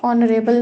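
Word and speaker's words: honorable: dash ऑनरेबल मैन तो ऑनरेबल है एच यहां पे साइलेंट है और हमें जो आवाज आ रही है जो साउंड आ रही है वो ओ की आ रही है और ओ क्या है वॉल साउंड है वॉल साउंड है साउंड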